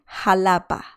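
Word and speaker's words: Xalapa: and the city or the capital is called halapa ha lapa do you remember i talked about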